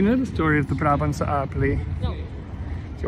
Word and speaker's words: Brabant: It sounds so strange in Dutch, Brabant. It's Brabant, the Duchy of Brabant.